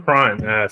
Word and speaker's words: crann: Yeah, it's like C-R-A-W-N is how it's pronounced.